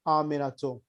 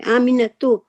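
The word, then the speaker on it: آمِنَةُ: We say Fatimatu, Zainabu, and Aminatu. Oh, okay. Aminatu. Yeah. So we have to pronounce the ta. Well, once we become professionals in Arabic, then reading Amina is correct.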